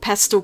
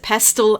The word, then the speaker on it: pastel: it's a struggle to get dark values with pastel colors though and because I've received comments in the past yes here in Australia we do pronounce it pastel and not pastel As Americans do it's just